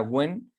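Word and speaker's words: Nguyễn: las y las When esto incluyen se pronuncia When y como curiosidad pues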